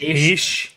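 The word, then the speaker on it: Heche: Ish, yeah.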